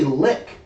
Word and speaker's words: lich: See, you say lich. People say lick, and I think that's fucking stupid. People say, no, it's pronounced lick. I'm like, lick doesn't sound very terrifying. Lich sounds cool.